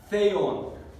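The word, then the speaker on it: θεόν: En la tercera palabra negra tenemos theon. Así se pronuncia como la Z española, como voy a conducir este sonido.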